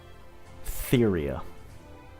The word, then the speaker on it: Theria: I don't think it's pronounced Theria. But I could be wrong. Oh, it is pronounced Theria. Theria.